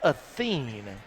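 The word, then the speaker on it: Acín: So two free throws coming for Claudia Athen.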